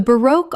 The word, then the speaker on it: baroque: baroque Two syllables with the stress on the second. It rhymes with spoke. Example. The baroque architecture of the cathedral